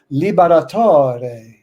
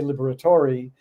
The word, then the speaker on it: Liberatore: But since then, though, I pronounce now all the letters. I say Liberatori, where my family would say Liberator.